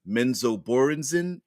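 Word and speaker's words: Menzoberranzan: elves that live in menzo borenzin I think is how ra Salvatore pronounces pronounces it anyway they were saying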